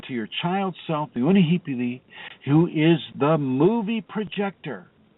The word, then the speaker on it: Unihipili: That's spelled Unihee, P as in Paul, L as in love, Unihipili. The middle self is spelled, it is called Uhane, and that's Uhan as in Nancy, E.